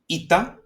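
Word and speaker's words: ήτα: Then we have ita uh like e. Okay. The e uh sound. And we will see later on we have many in the Greek alphabet. Okay. This is the ita e. And all these that we're going to see and this one as well all they pronounced as e.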